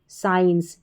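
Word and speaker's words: science: एस और सी में जो है सी साइलेंट रहता है जब साइंस की स्पेलिंग पढ़ी जाती है। साइंस ठीक है?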